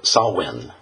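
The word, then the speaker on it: Samhain: one uh it's spelled if you look at the spelling it doesn't actually it sounds like it's spelled it's uh Sinn Sinn it's spelled s a m h i a n um that one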